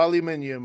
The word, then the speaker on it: aluminium: oh aluminum yeah yeah where it's either aluminum or aluminium and as long as